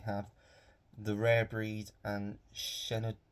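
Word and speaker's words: Shenandoah: The Rare Breed and shenoa I believe is how you say Shen andoa um two Western I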